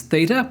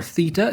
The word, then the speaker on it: theta: Next is Theta, or Theta if you're in the UK.